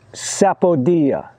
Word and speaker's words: sapodilla: This one here is called sapodilla. It's spelled S-A-P-O-D-I-L-L-A.